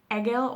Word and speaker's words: Egil: this year is um i'm going to say eagle saga because that's how i read it but you could say egyl or els saga i think would be a more accurate pronunciation and i don't have